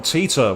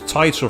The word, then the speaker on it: Titor: dub and buzz already used john teeter which is technically the right way because they're in the pronunciation but it's tighter from the original game they always go john